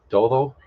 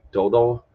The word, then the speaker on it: todo: He pronounced it like dodo, which is a little harder D. The soft D, the sounds like the English TH in Spanish.